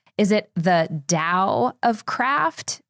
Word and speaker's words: Dao: I think the way to pronounce it in a way that shows you're educated and informed would be Dao Dao and that's because that's the pinion or the way that the mainland Chinese would pronounce it the way Giles form